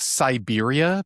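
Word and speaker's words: Cyberia: Um, it's called Siberia, but it was spelled like C Y B E R I A.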